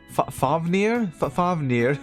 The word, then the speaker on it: Fafnir: In Nordic and wider German mythology, Fafnir, parenthetical Old Norse pronunciation, Fafnir, is a mighty dwarf who is the son of Hreidmar, the brother of Regin and Othir.